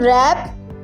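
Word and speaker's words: wrap: ई जी मिसाल के तौर पर एच इन ऑनेस्ट ऑनेस्ट में एच डब्ल्यू इन रैप रैप में डब्ल्यू के इन नोक नोक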